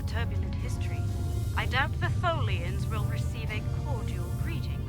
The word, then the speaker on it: Tholian: Rhymes with... I was going to say rhymes with Bolian, but that's another race from the series. And it does rhyme with Bolian. Rhymes with Morolian, there we go.